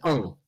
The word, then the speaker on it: Hull: So, yeah, there's that, you know, in Hull, they don't pronounce their H's, so it's oh.